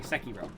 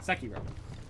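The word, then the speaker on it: Sekiro: and sakiro those are sorry sakiro that's way you're supposed to pronounce it sakiro um they're really good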